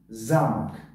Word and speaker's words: замок: Вақт барои он ки ударение дар ҳарфи а аст ва ҳарфи а баланд талаффуз шуда истодааст, ҳарфи о умуман талаффуз нашудааст. Талаффуз шуда истодааст, лекин бениҳоят паст.